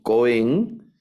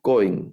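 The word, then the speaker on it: כֹּהֵן: es una palabra mire el acento va en la en la penúltima sílaba aquí que es la primera sílaba en esta palabra no decimos no leemos cohen sino cohen no es cohen sino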